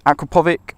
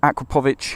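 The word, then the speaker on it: Akrapovič: as you can see it's a uh acrapovic or acrich however you want to pronounce it uh designed for the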